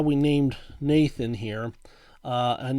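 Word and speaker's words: Gnathan: that's how we named Nathan here and Nathan is spelled g-n-a-t-h-a-n with a silent G and behind him is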